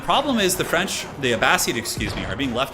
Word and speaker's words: Abbasid: turned just adds up it is pronounced uh abbas seed a vaseed abbasid a bad seed i'm trying it's a